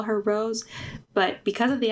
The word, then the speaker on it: Rosé: next one is so do you say her name like rose or is it Rosé cuz sometimes I say Rose sometimes I say Rosé because of the accent it should be Ros